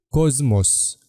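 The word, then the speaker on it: ⲕⲟⲥⲙⲟⲥ: او جمله او كلمه كوزموس كوزموس نلاحظ ان السيما الاولى اتنطقت زين علشان بعدها حرف الميم اما السمه الثانيه نطقت سين جزء موس كوزموس يعني عالم كوزموس عالم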